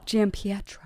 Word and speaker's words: Giampietro: Giampietro.